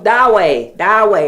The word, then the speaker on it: Dawei: You see, I want to say it wrong. Dawei. There you go.